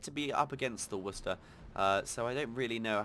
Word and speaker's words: Worcester: We got the Seattle, we got the Helena, Dallas, and the Worcester, not Worcester, as I heard someone pronounce it.